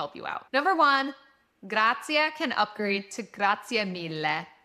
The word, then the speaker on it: grazie: By the way, make sure that when you do say grazie, that you're saying grazie and you're really pronouncing that at the end and not just grazie.